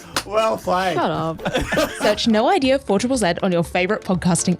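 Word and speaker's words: Know Idea: Search No Idea 4ZZZ on your favourite podcasting app. That's spelled KNOW, like no idea.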